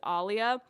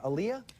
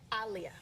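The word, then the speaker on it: Aaliyah: In my last video, there were a couple of people who took issue with me saying Aliyia's name as Alia.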